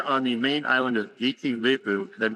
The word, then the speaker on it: Viti Levu: We're here on the main island of Viti Levu Did I pronounce that right? That's right Viti Levu And we're gonna do some diving today Alex